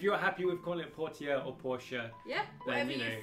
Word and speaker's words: Portia: It's Portia, but because some of the different NPCs are